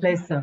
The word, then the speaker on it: pleasure: pleasure.